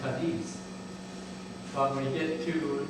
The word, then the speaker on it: Cadiz: Now, we all know, I think, that if you go to Cadiz in Spain, it's pronounced Cadiz. But when you get to this part of New York, down here, it's pronounced Cadiz.